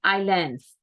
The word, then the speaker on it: islands: to say is Islands Islands most students are pronouncing in the wrong way you need to say islands and next one for the years you need